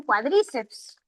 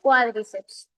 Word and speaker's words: cuádriceps: Cuidado con esta palabra, a veces los estudiantes pronuncian cuádriceps. La pronunciación es cuádriceps.